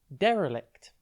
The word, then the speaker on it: derelict: Today's word is derelict. It's pronounced de-re-lict, and it is spelt D-E-R-E-L-I-C-T. Think der, then L, then ict.